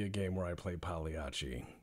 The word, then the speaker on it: Pagliacci: game where I play Pagliacci to say the least or pagligi if you pronounce things with a hard C which I don't recommend doing because if you go